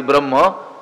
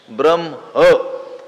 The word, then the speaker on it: ब्रह्म: ब्रह्म नित्यम यज्ञ प्रतिष्ठितम ब्रह्म शब्दाचे उच्चारण बहुतेक आपण बरीच मंडळी चुकीचीच करत असतो ब्र त्याच्यानंतर आपण म च उच्चारण करतो आणि मग हकाराचे उच्चारण करतो ब्रम असा शब्द नाही आहे ब्र त्याच्यानंतर अर्धा आहे ह आणि पूर्ण आहे म शेवटी काय आलं पाहिजे